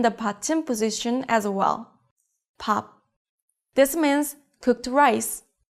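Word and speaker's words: 밥: Pop. This means cooked rice. The consonant sound is exactly the same at the beginning and the end of the syllable.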